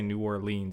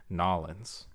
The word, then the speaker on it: New Orleans: that instead of like if you're really from louisiana you don't say new orleans you say nollens yeah that's that's the proper way to say where'd you learn that